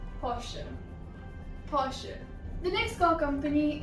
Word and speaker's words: Porsche: The next word is posh. Posh. Now posh comes from Germany. So in German it's pronounced as Porsche.